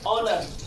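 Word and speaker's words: honour: है, H silent हो जाता है, एच का उच्चारण हम नहीं करते हैं। फॉर एग्जाम्पल क्या है, ऑनेस्ट, आवर, ऑनर।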